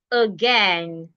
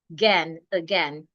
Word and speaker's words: again: So it means that the letter A should be changed into a again again and so many other words like that.